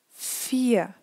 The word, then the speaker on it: vier: So after a long vowel, it's a consonant when it's at the end. So let's read together. Vier, ihr, der, Ohr. And here try to listen what I'm saying and not to read. It's a small a sound. So once again, vier, ihr, der, Ohr. So here please have faith and really pronounce it this way, although you read an R, it's really important that you don't pronounce it.